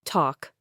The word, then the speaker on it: talk: Silent L in certain combinations. Talk. You only hear talk.